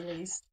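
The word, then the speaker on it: Leist: is this at least I would say least it's kept in our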